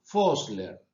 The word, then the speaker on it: Vossler: Uno de los más importantes autores de esta corriente es Karl Vossler. Se escribe con B corta, pero los alemanes pronuncian como una especie de F.